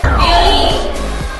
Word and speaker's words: violín: Tenemos la palabra violín. La palabra violín, la sílaba que se pronuncia con mayor fuerza de voz es violín.